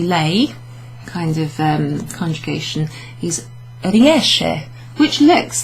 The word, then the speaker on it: riesce: So if you know the verb uscire, to go out, esco, esci, esce, etc., then you'll know that that is pronounced riesce. SCE is a she sound, okay, so it's not riesce.